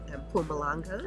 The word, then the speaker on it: Mpumalanga: I ended up in Mpumalanga. Mpumalanga. And you're saying it right.